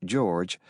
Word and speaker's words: JORG: In this case, the junior officer requiring guidance, JORG, pronounced George, was Ensign Matt LaPointe, who had just graduated from the Naval Academy.